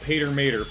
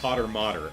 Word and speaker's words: Potter Mater: Not Pater Mater, Potter Mater.